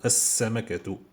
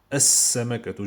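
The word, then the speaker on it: السمكة: Et vous avez al-huruf shamsiyya dont je ne prononce pas L, je l'écris mais je ne le prononce pas comme samakatu, as-samakatu, samakatun. Ou alors, quand je la fais shamsiyya, je dis as-samakatu, je ne dis pas L, je dis as-samakatu, as-samakatu, directement.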